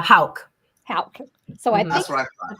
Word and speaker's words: Houk: So, Jamie, how do you say your last name? Uh, Hal.